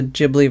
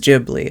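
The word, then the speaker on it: Ghibli: know but the the the word is spelled out in the way they pronounce it in Japanese which is jibli I guess but when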